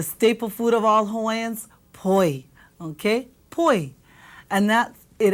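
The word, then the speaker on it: poi: how about the staple food of all Haans po okay Po and that it ends in an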